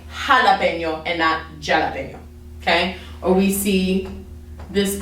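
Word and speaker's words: jalapeño: letter name and khutba actually makes an h sound so that's why we say when we see this word we say jalapeno okay or we see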